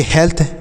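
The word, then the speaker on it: health: एच ई ए एल टी एच, तो इसे पढ़ेंगे हेल्थ, एच ई ए एल टी एच हेल्थ पढ़ेंगे।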